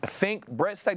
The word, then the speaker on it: Fink Bressack: Yes, I'm so sorry if I pronounced the name wrong. Is it Fink Bressack?